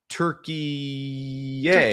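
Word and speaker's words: Türkiye: They're playing Turkey-ay. Yeah. Turkey-ay. Turkey-a. Turkey-ay. I I didn't know. That's apparently the correct international pronunciation or we just making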